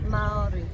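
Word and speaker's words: Māori: So what is the correct pronunciation? Is it Maori? Like how do you? Maori. Maori.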